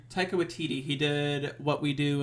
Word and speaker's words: Taika Waititi: It's directed by, and help me with this pronunciation, Scott. I think it's Taika Waititi. Taika Waititi.